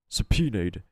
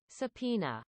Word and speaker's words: subpoena: The court will take a 30-minute recess while the witnesses subpoenena sub I have not seen or or read that word in a long time.